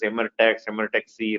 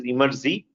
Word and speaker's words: Emertxe: People pronounce as Emertxe, right? The right way to pronounce is Emertxe, or easy way to remember is take the word extreme and then reverse it, you will get Emertxe, right?